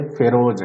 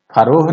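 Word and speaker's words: Pharaohs: दिया है फेरोज, देखिए इसका उच्चारण थोड़ा ढंग से करेंगे, फेरोज है, ठीक है, फरोह नहीं है या फेरोज, कुछ भी लोग पढ़ता वैसे नहीं पढ़ेंगे, ये है फेरोज।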